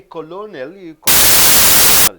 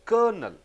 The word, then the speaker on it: colonel: You don't say colonel, you pronounce as colonel.